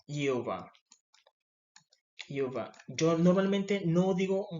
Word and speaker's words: Jehová: Nosotros en Latinoamérica pronunciamos es Jehová, pero en el hebreo no existe la J y se dice es Jehová.